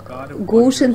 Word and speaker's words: Goshen: Goshen произносится Goshen, Нью-Йорк, 10924, Соединенные Штаты Америки.